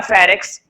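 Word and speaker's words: pharynx: अब उसको हम बोलते हैं फेरिक्स। बोर्ड पे लिखा हुआ है फेरिक्स। तो देखो इसके अंदर जो एन मैंने बोला नहीं है, एन हमारा क्या होता है? साइलेंट। केवल इसको पढ़ते हैं फेरिक्स।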